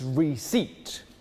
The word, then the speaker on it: receipt: It's receipt. What? You don't pronounce the P.